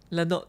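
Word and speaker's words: Lenôtre: So after completing your second bout of education with Notary, is that how do you pronounce that? Lanot. Lanot, Yeah, Lanot, yeah, the R is supposedly silent, right?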